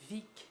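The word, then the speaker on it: Vigg: C'est l'artiste Vic, ça s'écrit V-I-G-G, qui a réalisé les illustrations, dont celle de la couverture.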